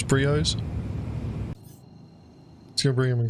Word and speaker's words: Brio's: So we'll head over to Briar's Breaker Yard and see if we can counter anyone. Right, what did he say? He said Briars, he pronounced it wrong. It's Brios.